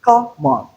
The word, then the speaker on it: common: But if it is strong, that is, the syllable is stressed. For instance, common, common. So in common, the syllable is stressed. Hence, we have a different sound.